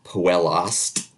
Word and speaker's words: puella est: So in phrases like puella est, it'd be puellast, and winum est, it's winumpst.